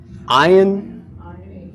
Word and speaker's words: ayin: Yes, the ayin, well, it's silent, but it's not. It's fast becoming silent, but it actually makes a very subtle sound like you're swallowing your tongue.